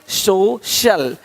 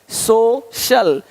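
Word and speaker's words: social: अब देखो यदि सी के आगे आई ए हो तो सी का उच्चारण श होता है। क्या होता है? श होता है। क्या लिखा हमने? सोशल सोशल सोशल तो यहां पे शल हो रहा है।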